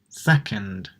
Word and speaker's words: second: a short sound love and then careful second second right I didn't say ii didn't pronounce anything with my mouth at him round it i just pronounced second we concentrate on the oh so it's going to be what we call the schwa if you don't know